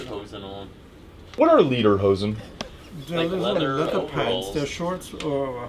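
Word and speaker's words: Lederhosen: yeah above the knee how's it pronounced leader leader which is leather leather pants that's all what it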